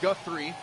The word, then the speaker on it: Guthrie: That's how they pronounced it over the intercom. So that's where we're going to go with. Dalton Guthrie.